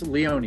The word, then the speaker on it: Leone: And we have a new friend as well, Leone. That is correct pronunciation of your name, sir. That's Leone. It's mispronounced Italian. Oh, Leone, Leone.